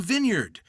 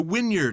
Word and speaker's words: Vineyard: You have something called the Vineyard, or the Wynyard, as my friend pronounces it.